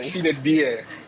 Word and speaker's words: sine die: Sine die, tama ba? Or sine die? Sine die. Sine die. Yeah. I've been waiting for the correct pronunciation.